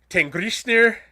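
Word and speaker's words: Tanngrisnir: two giant goats uh let's see if i can get my norwegian pronunciations on here they're a little bit harder than malnour to say uh tengrisner and tegnostir uh basically teeth nasher and teeth grinder is what their names are in well in norway that's close the norwegian pronunciations the close i can come the icelandic pronunciation i can't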